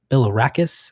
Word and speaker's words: Bilirakis: forth with this representative, Bilirakis, I believe is how you pronounce it, Gus Bilirakis from